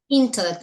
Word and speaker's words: intellect: here intellect uhhuh intell intellect the stress is on the first syllable yes so intellect okay